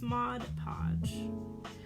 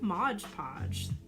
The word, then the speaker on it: Mod Podge: I'm realizing I'm always saying it wrong. It's Mod Podge. I always say Mod Podge.